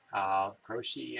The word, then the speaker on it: Croce: Jim Croce, Croce, I guess it's pronounced.